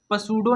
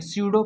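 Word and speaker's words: pseudo: उसी प्रकार इसको पसूडो नहीं पढ़ेंगे, स्यूडो पढ़ेंगे।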